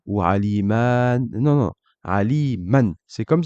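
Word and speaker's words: عَلِيمًا: Exemple, dans le mot aliman, je prononce bien ce tanwin-là, aliman, et vous remarquerez que quand je parle, je ne récite pas le alif en plus. Je dis aliman, et je ne dis pas alima ou aliman.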